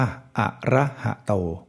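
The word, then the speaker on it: อรหโต: คือ มี สระ อะ หอ หีบ ก็ เช่น เดียว กัน ส่วน ต เต่า มี สระ โอ อยู่ แล้ว ก็ เป็น ตาม นี้ ซึ่ง ก็ จะ อ่าน ได้ ว่า อะระหะโต คำ นี้ ก็ เหมือน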